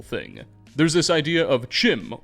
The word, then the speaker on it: CHIM: There's this idea of Chim, or Kim as it's supposed to be pronounced, which is said to